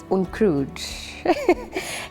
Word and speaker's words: Onkruid: My name is Onkruid. I grew up in East River. So my brother-in-law is from America. So the way he pronounces it is Onkruid. And obviously it's Onkruid.